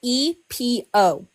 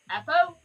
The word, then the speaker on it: Epo: Here, it's spelled EPO. Oh. Epo? Epo. Epo. Epo. Epo. Epo? Epo. Yeah. Is it? Yeah. Yeah, that's how it's said.